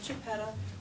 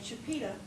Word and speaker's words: Chipeta: a fine job uh It is believed that chapeta the wife of Chief Ur pronounced it something very much like Chipeta when you read contemporaneous documents from people who met her but in the Historical Society of the path we say chapita as the family who families who live in the area of part pronounce it and we encourage everyone